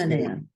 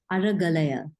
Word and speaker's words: Aragalaya: that because I probably will massacre how it's pronounced and ask for some help, Kanya. I try to Aragalaya. What should she say? Aragalaya. Say it again, please. Aragalaya. Aragalaya.